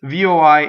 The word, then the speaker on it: voi: for a non-italian okay so voi is oh we it doesn't rhyme with boy it's voi and noi right you